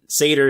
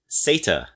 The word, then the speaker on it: satyr: There is a British way to pronounce this word, and satyr is the American way to pronounce it. But sata is the British way to pronounce it, apparently.